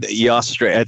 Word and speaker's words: Eostre: Eostre. I think that's how you pronounce it.